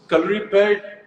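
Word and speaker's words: Kalaripayattu: so, calorie pad, Rithik, I'm so proud of the fact that you said the name correctly because in India, I Thank don't you.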